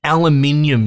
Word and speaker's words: aluminium: We got iron, silicon, and aluminium, you silly Americans. That's how you pronounce it.